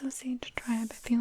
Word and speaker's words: Osage: I think that it's Osage Tribe. I feel like I've heard a few different pronunciations, but I think that that's kind of what I've heard the most.